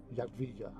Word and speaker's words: Jadwiga: And Jadwiga, because the W is a V in Polish.